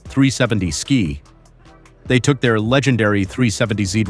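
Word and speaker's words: 370Zki: The 370 Ziki, pronounced 370 Ski.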